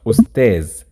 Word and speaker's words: أستاذ: In Masri, it will be pronounced أستاذ, simplified to Z.